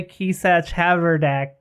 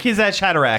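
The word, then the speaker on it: Kwisatz Haderach: That only the Kesach Haverdak can use. I can't remember how you pronounce that. I probably butchered it so bad. Oh. Hatterack. Hatterack. Kesach Hatterack.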